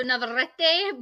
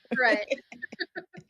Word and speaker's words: Navarrete: It's the double R's in Spanish, so Navarrete, but it's I Oh, go by Navarette.